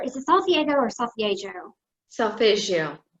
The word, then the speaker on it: Solfeggio: Solfeggio. Solfeggio. It's right. kind of an Italian pronunciation.